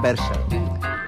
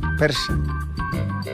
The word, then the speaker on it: percha: Como que dice mi madre, depende de la percha. Depende de la percha. Yo pronuncio la CH, sí, bien. Ah, la percha. Percha, dice. Sí. Persa. La persa. ¿Ah, sí? La persa. La persa.